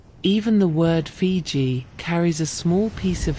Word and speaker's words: Fiji: The Tongans pronounced Viti in their own way, closer to Fiji or Fiji. And the Europeans, hearing the Tongan version, carried that spelling home with them, and it became the name the world adopted.